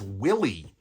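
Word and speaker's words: WILLE: Anyway, I love the Vil logo on the back. I think that's how you say it. There are always people trying to tell me, no, it's Willy. I just can't get behind that.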